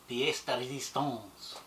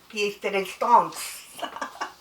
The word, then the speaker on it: pièce de résistance: It's pronounced pièce de résistance. Pièce de résistance.